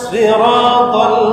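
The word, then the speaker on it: صراط: সদ ইহদিনাস সদ ইহদিনাস সিরাতাল মুস্তাকিম ইহদিনাস সিরাতাল মুস্তাকিম সিরাত সিরাত সিন না সদ সদ সিনের উচ্চারণ কি সিন আর সদের উচ্চারণ সদ মোটা কি সদের উচ্চারণ মোটা সিরাতাল্লাজিনা আনআমতা আলাইহিম সিরাতাল্লাজিনা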